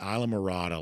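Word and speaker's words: Islamorada: Okay, so Johnny completed the Isa Marada Lighthouse Swim on Saturday morning which is that's how that's uh pronounced for those in Northeast Georgia.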